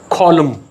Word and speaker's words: column: ऐसे अल्फाज जिनके आखिर पर MN आ रहा हो तो N साइलेंट हो जाता है, like autumn, column, hymn, HYMN, condemn, solemn, SOLEMN.